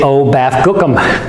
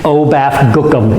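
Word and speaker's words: OBAFGKM: I just say o baffum in order to remember it. Uh that works perfectly well for me. Obafum. It's relatively pronouncable.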